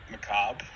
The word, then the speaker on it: macabre: Macabre. Macabre. Macabre. It's just macabre. Don't pronounce the R.